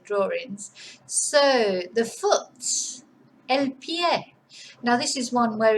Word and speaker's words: pie: And I do like this word because of course it looks like pie, but you just have to remember to pronounce the vowel. So it's pie.